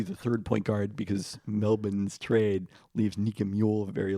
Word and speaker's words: Melbourne: you enunciate the in Melbourne because I think people over pronunciate pronounce it you think over people over pronunciate the N Melbourne yeah the lack of the r just like when NFL